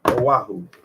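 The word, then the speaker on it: Oahu: oaho how do I pronounce it aahu aahu pronunciation aaho that was right aahu ohaho he masqueraded as a native Hawaiian who took carloads of tourists around aahu manufacturing ancient Hawaiian legends from his imagination and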